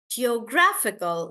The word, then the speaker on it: geographical: British uh geographical guys in the word geographical the stress is on graph gra and that's why we say geographical geographical like that dictator on